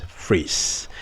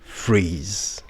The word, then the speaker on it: phrase: I dropped the transcription here and you can see that the whole build-up to the transcription has the last sound which is a voiced consonant sounded as z, and then it applies here.